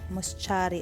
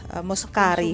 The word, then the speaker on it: Muscari: Ito pala, moschari ang tawag dito. So, baka ang ilan sa inyo magtataka, Ang bakit ganda niya. moschari M-U-S-C-A-R-E-I naman yung nakasulat. Muscari kung sa atin.